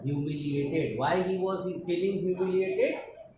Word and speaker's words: humiliated: Next word is humiliated. HUMI, humiliated, ATED. Humiliated. Now we need to divide into small parts so that we can learn it easily. Hue. Here we pronounce it like hue, not who.